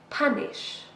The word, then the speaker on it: punish: This is a verb, 2 syllables, and we stress the first one. Punish.